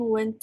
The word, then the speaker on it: want: Ini bacanya want ya, bukan went. Kalau kamu bilangnya went tuh artinya pergi. Ya bentuk lampau. He doesn't want tadi kamu bilang. Jadi bukan went tapi want.